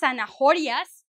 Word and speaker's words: zanahoria: I think for most people it's quite simple to know that the H is not pronounced. So it's zanahoria.